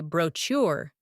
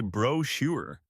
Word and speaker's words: brochure: I say garage, Brochure? I say brochure. and I say brochure.